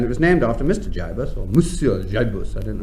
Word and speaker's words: gibus: I think rather sort of up-and-coming types might call it a gibus. That's how you pronounce it, is it?